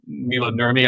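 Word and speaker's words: Maila Nurmi: Unfortunately, Miss Nurmi, the actress, Mila Nurmi, I believe is how you pronounce her name.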